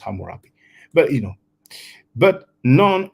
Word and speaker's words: Hammurabi: laws of hamurapi now this is in the different spelling of Hammurabi according to the community from writing it's actually pronounced hamurapi but you know but